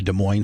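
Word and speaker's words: Des Moines: Uh, so you know, De Moine is is spelled De E S then it's Oh, while I was I was doing the driving.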